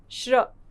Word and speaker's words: श्र: बना है और वह दो व्यंजन हैं श और र श और र को जोड़कर व्यंजन बना है श्र श और र को जोड़कर व्यंजन बना है श्र यहां श शलगम वाला श जिसका उच्चारण धीमा होता है कम होता है और र का उच्चारण पूरा होता है श्र श का हल्का सा साउंड और र का पूरा साउंड इस प्रकार बन जाता है हमारा संयुक्त व्यंजन श्र श्र से होता है